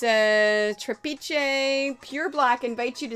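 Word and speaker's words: Trapiche: of this t-r-a-p-i-c-h-e trapeze it's from argentina so it's gotta have like a spanish kind of pronunciation trap i-c-h-e but it's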